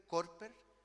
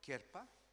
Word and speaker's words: Körper: Una que voy a pronunciarla como se escribe, Körper, Körper, y la otra, que es el cuerpo físico, de la radiografía, ¿no?